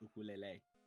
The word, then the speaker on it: ukulele: If I wanted to pronounce, like, if you wanted to pronounce it like someone from Hawaii, it's ukulele. Look. The Hawaiian way of saying it.